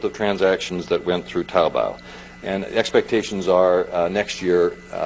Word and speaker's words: Taobao: There's also Taobao. Did I get it right? Did I pronounce it correctly? Okay. I've been practicing for the last 5 minutes, Taobao, which is basically a combination of, imagine if